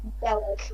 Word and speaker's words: Bellick: Bellick. Okay. Is that Bullock or Bollock? Did you say? Bellick, like how Nico Bellick is spelled.